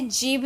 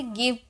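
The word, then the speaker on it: give: यूज किया गया है लेकिन इसे जीव नहीं बोलते इसे गिव पढ़ते हैं इसकी प्रोनंसिएशन होती है गिव ग में होती है तो ये कुछ-कुछ अपवाद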